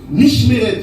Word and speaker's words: Mishmeret: Mais dans l'explication, un ordre, ça veut dire Mishmeret. Mishmeret, ça s'écrit M-I-S-H-M-E-R-E-T.